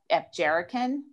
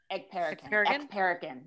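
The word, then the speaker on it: Ekperigin: Felicia Michaels, Ashley Ray, Christine Levine, and Naomi Epjerican. It's you're getting the syllables wrong, but I can't get it right. Ekperican, yes, and she's really funny, guys, and everybody you'll know her name in about 2 weeks.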